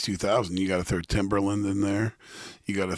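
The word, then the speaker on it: Timbaland: Timberland.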